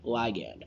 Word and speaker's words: ligand: Some people call it ligand, I call it ligand, whatever you want, as long as you can spell and know what we're talking about. I don't care how you say it.